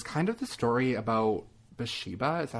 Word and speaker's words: Bathsheba: i have is kind of the story about bashiba is that how you say her name bathsheba bathsheba sherman so she was born that's sheba